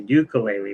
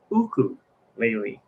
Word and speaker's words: ukulele: party this is ukulele everyone calls it a ukulele but it's actually pronounced uku lately hawaian instrument expensive instrument too not as expensive